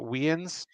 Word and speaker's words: Wiens: Am I pronouncing it right? Wiens, yeah. Wiens, the CEO of iFixit, which is, I'm sure